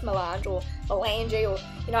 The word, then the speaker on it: Melange: I think it's Melange or Melange, or, you know, I just think Melange rhymes with Solange, you know, like, don't touch my hair.